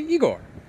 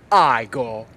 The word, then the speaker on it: Igor: You must be Igor. Actually, it's pronounced Igor.